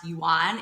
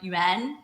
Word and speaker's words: yuan: least know that that it's not pronounced yuan. It's it's more like yuen. It's like an umlout en if you think about it like how it's actually pronounced.